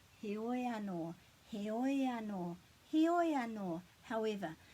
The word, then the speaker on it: heoi anō: You just pronounce them and then glide them together. Heoi, heoi anō, heoi anō, heoi anō, heoi anō, however.